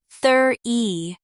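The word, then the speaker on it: thirty: 20 20 30 often becomes 30 e dropping the t sound.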